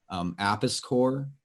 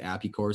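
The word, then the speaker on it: Apis Cor: Apiscore, again, we tend to pronounce it Apicore.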